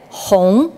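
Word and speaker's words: 红: Well, in this case, red, hong, pronounced, another word that means vast is also hong.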